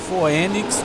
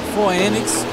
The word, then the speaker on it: Phoenix: da Fenix Race League mas se escreve PH oe né foenix vamos dizer no português foenix Racing League né isto é com né